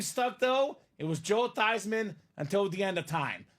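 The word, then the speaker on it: Theismann: staff said Hey Joe let's change your last name from thieman to thyman so it could be thyman for the Heisman now Joe is a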